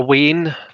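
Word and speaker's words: wean: find that so a wayne is spelled w-e-a-n spelled wien but it's pronounced wayne as in w-a-y-n-e um and that's just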